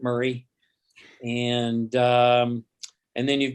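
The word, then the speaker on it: Maury: is mari county m-a-u-r-y locals pronounce it murray and um and then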